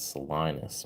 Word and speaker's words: Salinas: Salinas, Salinas. I'm American, man. I pronounce it the American way. It's Salinas, man.